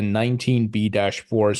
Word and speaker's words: 19b-4: about was the two phases to this, the 19B-4s and then the S1s. Have all the potential issuers already updated their 19B-4s, if I'm saying that right?